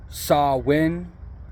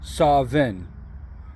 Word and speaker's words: Samhain: Some pronounce it Samhain, like I saw when he did that, and others pronounce it Samhain, like he was solving a problem. It depends on where you're at.